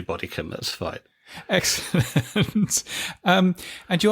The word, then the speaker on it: Bodycombe: very pleased to welcome onto the show David Bodycombe. Have I pronounced your surname correctly, David? That's right. I suppose should be Bodycombe if you want to do the sort of